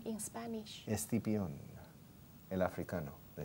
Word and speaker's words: Escipión: Escipión.